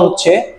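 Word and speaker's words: ふ: এটা কিন্তু দুটি উচ্চারণ এখানে আমরা পাবো, ফু এবং হু। যখন আমরা বর্ণ দিয়ে যখন শব্দ গঠন করব, তখন কিন্তু হু এবং ফু দুটির উচ্চারণই আমরা পেয়ে থাকবো।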